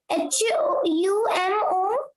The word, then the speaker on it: humorous: Sir, what will be pronounced? H-U-M-O-R-O-U-S.